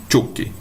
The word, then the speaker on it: choque: quando eu tenho CH, sempre que eu tiver CH, é como se tivesse um T antes, é como se fosse o tchau, né? Então, essa palavra ficaria choque. Essa seria a pronúncia correta, choque.